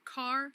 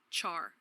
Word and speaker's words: char: name of this type some people including me pronounce it car but you will meet people who call it Char take my advice and